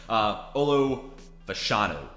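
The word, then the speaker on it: Olu Fashanu: Some of these names are names we talked about in our tackle rankings, but Olo Fashanu, I believe is how you say his name, already outpaced his snaps from last year.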